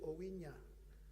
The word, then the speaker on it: Owinya: I said, now, the nya you say in cognac is the nya at the end of my name. So now you say Owinya, since you can say cognac.